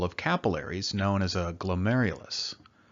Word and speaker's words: glomerulus: capillaries known as a glomerulus I know it doesn't look like it's pronounced that way from its spelling but it is and each glomerulus is